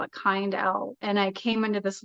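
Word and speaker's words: Kindell: name isn't that funny but I always say kind L like people would ask how to spell it kind L and I came into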